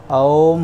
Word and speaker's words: ओम्: बताना चाहता हूं कि इसका जो उच्चारण है वह ॐ नहीं होता है वह ओम होता है ओम् तीन शब्दों से